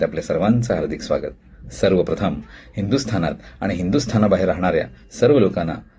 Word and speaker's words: हिंदुस्थान: शब्द आहे हिंदुस्थान मंडळी हिंदी चित्रपट गीतांमध्ये हिंदुस्थान या शब्दाचे उच्चारण हिंदुस्तान किंवा हिंदुसता किंवा हिंदुस्ता अशा प्रकारे केलेला आपल्याला आढळत मुळात हिंदुस्थान हे एक विशेष नाम आहे म्हणजेच प्रॉपर नाऊन आहे आणि त्याचं उच्चारण जसं मूळ उच्चारण आहे तसंच करणं अपेक्षित असतं.